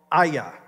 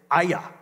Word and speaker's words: Ai: It's a tiny village, and it's called Aya. It's spelled A-I, and for years I pronounced it I or A-I, but actually the way you pronounce it is Aya.